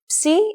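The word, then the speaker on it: psi: C posidon doesn't it if you ever forget how to pronounce this letter just remember P C is for posidon and his tridon it is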